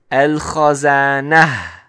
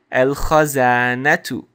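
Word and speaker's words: الخزانة: dhamma or a kasra, then it sounds like a ha. So I would actually pronounce this as al-khazana. Al-khazana. But in this sentence, we actually have a dhamma. So we're going to pronounce it, because we have a dhamma on it, we're going to pronounce it as al-khazanatu.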